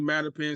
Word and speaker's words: Mattapan: Yeah, Mattapan CDC.